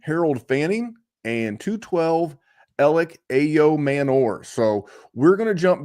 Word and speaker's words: Ayomanor: a wide receiver, and it's Alec Ayomanor. That's how he pronounced it. That's how I'm going to pronounce it.